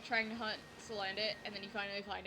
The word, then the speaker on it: Salandit: Or Salandit. That probably makes more sense for pronunciation, because, like, salamander.